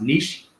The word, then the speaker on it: niche: the people right um i know that the word is uh pronounced niche but there are riches in the niches it was what that